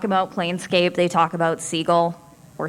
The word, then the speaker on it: Sigil: plcape they talk about seagull or S uh never pronounce it sigil because anyone in the city will instantly know you are not from the city if you pronounce it sigil and that is one